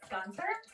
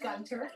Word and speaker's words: Gunter: Is this Gunther? It's actually pronounced Gunter.